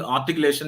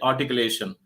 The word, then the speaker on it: articulation: Already I told you, R is silent in articulation. Instead of saying articulation, you must say articulation.